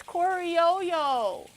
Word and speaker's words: criollo: coro coro coro they said if it's a double l it makes a yo sound.